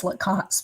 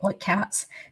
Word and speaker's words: Lacasse: So Lacasse, or everybody says Lacasse, but I think he pronounces it Lacasse.